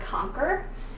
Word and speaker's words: conquer: Well, there's one word that doesn't have the sound at the end, like the word conquer, and that's a totally different one because it actually just has a k-er sound, conquer.